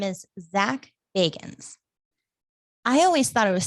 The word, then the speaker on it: Bagans: I did hear people say it like that. I hear it like that all the time. I was like, Bagans. Like, did you like what? So I just thought that was interesting. Like, oh, apparently everyone says his name wrong.